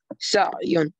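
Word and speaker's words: سعي: Sa'una, sa'ina, mas'iyun, mas'iyuna, mas'iyina, sa'yun. Sa'yun, pronounce ayn as ayn, not with alif.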